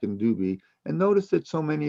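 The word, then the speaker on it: Dubhe: of the big dipper mirak and dubi or some pronounce it dubai b-u-b-h-e and mirak m-e-r-e-k merak and dube and notice that so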